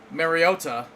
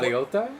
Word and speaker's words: Mariota: Marcus Mariota did actually comment that his name is the Italian pronunciation.